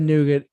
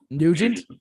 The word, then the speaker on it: Nugent: artist i second that ted nougat oh is it neutral i know how to say his name nugent yep cat scratch fever